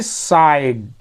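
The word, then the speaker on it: sighed: मछली को देखा ही साइड वह फिर गहरी सांस लिया फिर साई मतलब होता है आ भरना गहरी सांस लेना तो यहां पे हम जीएच का उच्चारण नहीं कर रहे ना क्योंकि एक नियम कहता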